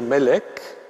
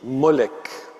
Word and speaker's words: Melech: Et probablement la vocalisation O-E, c'est en effet une vocalisation péjorative. Au lieu de dire Melech, on dit Molech. Et du coup, si on reconstitue la prononciation originelle, Melech, on peut penser en